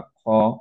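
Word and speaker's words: خ: বাট যেহেতু এটা heavy letter, obviously আমরা খা এরকম বলবো না, আমরা খ এটাই বলবো।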